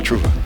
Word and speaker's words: Trova: Was it Trova or Trova? Trova. Trova, okay.